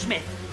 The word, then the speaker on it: Smythe: Accrington Smythe, pronounced Smith, is on his way back.